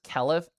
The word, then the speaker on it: keliff: It's pronounced kelliff asterisk.